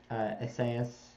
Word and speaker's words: Esaias: Isaiah is the Hebrew way. Esaias is the Greek way. I don't know where the stresses are. Yeah, Esaias.